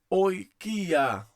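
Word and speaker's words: οἰκία: Como é que nós iremos ler essa palavra? Essa palavra é lida oikia, Oikia, oikia. Oikia significa casa, mas não é casa no sentido de construção, de edificação, tá ok?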